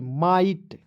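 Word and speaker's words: might: तो क्या पढ दोस्तो एम आई जीी एसटी माइट उसके बाद देखेंगे एम I double L आई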